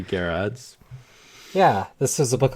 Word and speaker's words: Gerads: miracle the recent epic from Tom King and Mitch Gerardus Gerard's I've always heard it pronounced Gerard's right but alright be Jarrod's yeah this is a